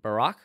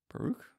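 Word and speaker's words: Baruch: fourth Ezra and second Barack is that right I you say his name baroo baroo yeah draws from second baroo I'm not I'm I'm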